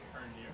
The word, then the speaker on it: Hernier: Oh, and Hernier is pronounced like reindeer. Hernier.